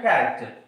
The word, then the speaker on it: character: Here also same the word CH, but how it pronounced? Character means ka.